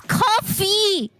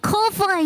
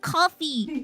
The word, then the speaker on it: Ko-fi: It's not Kofi. It's coffee. I thought you wanted a large soda. Is that Do you want a large soda? I mean pronounce like it's pronounced coffee, not Kofi.